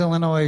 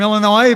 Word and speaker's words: Illinois: motto of illinois is please don't pronounce the s by the way i